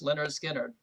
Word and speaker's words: Lynyrd Skynyrd: Pronounced Leonard Skard. Really funny album title because people probably couldn't know how to pronounce it when they saw that.